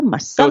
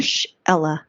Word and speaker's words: Marshella: Most people mess it up. They say Marshella, Marcella. No, they don't. Are you serious? Yeah, and I'm like, oh, it's exactly how it's spelled.